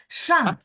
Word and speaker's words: 上: 上菜 Shangnya masih ada 1 Pak. 啊， Shang ditekan. 上 Shang. 菜， Shang cai ya, 4, 上 4.